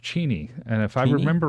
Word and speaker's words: Cheney: he's coming in from sheny Washington thank you for joining us yes and I think that's I think that's pronounced Cheney and if I remember